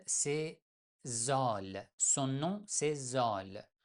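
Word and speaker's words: ذ: Son nom, c'est Zol. Mais on prononce Z tout simplement, comme Z en français.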